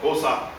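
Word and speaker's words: Xhosa: tribal chief and so he came from the kosa community or kosa tribe which is a fairly large one it is it is spelled x h o s a and uh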